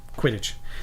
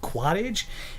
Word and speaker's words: quidditch: Q um quidditch quidditch I wasn't gonna mispronounce it I'm not gonna be like one of those hipsters it's like oh what is it called is it called quadage is it Coolidge it's quidditch so he's he's gonna